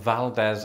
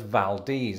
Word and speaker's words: Valdez: I'm speaking, of course, of Valdez, Alaska. At least that's how I used to pronounce it before I heard it.